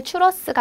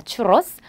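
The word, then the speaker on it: churros: 계시죠 그다음은네 추러스 추러스 원래 츄러스가 아니라 스페인식 발음은 추 스입니다 추로스 츄로스는 이제 역시나 우리나라에서도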